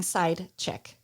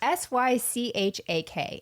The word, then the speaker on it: Sychak: And wait, it definitely sounds like you're saying side chick. Oh, that would make sense, but it's Sychak. And when you go online and you look in pronunciations, yes, it told me 7 different ways, and one of them was side chick.